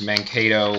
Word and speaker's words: Mankato: I think it's pronounced Mankato Free Press.